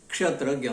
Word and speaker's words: क्षेत्र: अब इसका उच्चारण कुछ क्षेत्रों में छ से हो रहा है। क्षेत्र को वो क्षेत्र कह देते हैं, ये दोष है।